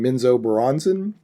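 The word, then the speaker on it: Menzoberranzan: Their main city is, and I'm always going to say it wrong, Minzo Baranzan. I've heard it pronounced differently, but that's it.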